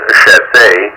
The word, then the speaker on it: Chassé: Well, let me tell you, I do pronounce it Chassé, more French lineage, and I always use the accent aigu over the E.